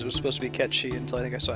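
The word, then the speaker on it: Cait Sith: the spelling in Gaelic to understand how to pronounce something. I always said Kate Sith when I was a kid. I realized it was supposed to be Ketshi until I think I saw Advent Children.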